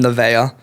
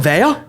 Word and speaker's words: Nevaeh: Nevaeh? Yes. Dude, that- we just pronounce it Neve.